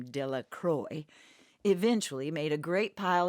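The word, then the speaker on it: Delacroix: dickie de la croix the villagers pronounced his name de la croix eventually made a great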